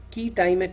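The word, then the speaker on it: quia timet: and expert injunctions there is something called a key time at injunction it's spelt as qu I a space T IME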